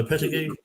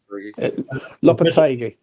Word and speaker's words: Lopetegui: How do you pronounce Lopetegui? Yeah, Lopetegui.